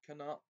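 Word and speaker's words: Knut: pronouncing the silent K, but they pronounce the silent K at the beginning of nut and neasel, turning it into canut and kneasel.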